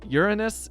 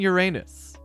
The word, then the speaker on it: Uranus: space fact in english both uranus and uranus are correct pronunciations of the planet are we doing